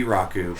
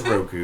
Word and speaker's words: Roku: Hey, at least he pronounces his name right. At least he's not Rau. Yeah, it could be Rocku, but it's it's Roku and and it's good.